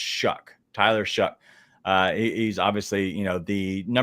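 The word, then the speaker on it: Shough: Sorry, it's pronounced Shuck.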